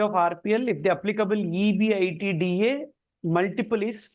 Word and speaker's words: EBITDA: With respect to information given in para 6, calculate the equity value of RPL if the applicable EBITDA multiple is 4. Yeah, we pronounce it as EBITDA.